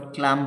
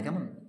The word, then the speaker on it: calm: অর্থাৎ what a কাম face, দেখো এই শব্দটা CALM তোমরা আবার ক্লাম পড়বে না, কেমন? এই এর উচ্চারণটা সাইলেন্ট থাকে।